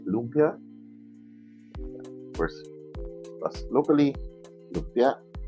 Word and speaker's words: lumpia: American Filipinos to say lumpia of course locally look yeah the the downward the cut is on the second syllable the first and we have some